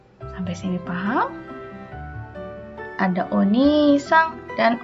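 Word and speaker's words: お兄さん: Tapi kalau untuk keluarga orang lain berubah menjadi oni-sang. Ingat ada i lagi, berarti dibacanya panjang ya.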